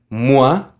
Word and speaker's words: Moyë: queda el sonido guau eso quiere decir que debe ser moi y la segunda y